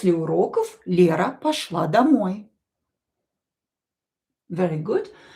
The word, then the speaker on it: уроков: Уроков. Уроков. This word here will be pronounced as f because voiced consonant at the end of the word will become unvoiced.